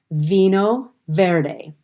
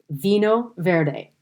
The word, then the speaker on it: Vinho Verde: gone over before and i came to portuguese vino verde and that is spelled v-i-n-h-o and then the new word v-e-r-d-e vino verde now it is a portuguese specifically um portuguese